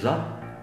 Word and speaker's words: rất: Còn chữ R thì khi họ nói rất thì không phải là rất, không phải là rất, rất. Không phải. Cái chữ R trong tiếng Sài Gòn á, thì mọi người thường nói là chữ G.